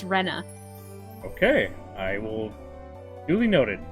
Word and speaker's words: Rena: Oh, I won't say anything, but yes, it's pronounced Rena.